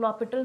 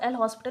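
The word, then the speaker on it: L'Hôpital: वैसे तो एक और मेथड यूज़ करते हैं, सिंपल LH रूल, जिसको हम लोग लॉपिटल रूल भी बोलते हैं, या फिर आप लोग L हॉस्पिटल, लेकिन उसका गलत प्रोनाउंसिएशन है, तो उसको लॉपिटल रूल बोलते हैं।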